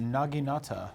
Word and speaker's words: naginata: actually pronounced naginata, Oh, wow.